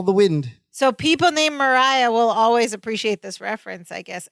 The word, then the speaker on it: Mariah: they call the Wind Mariah that's what oh it's Mariah I'm so sorry Mariah I think we've been pronouncing it wrong this whole time because she says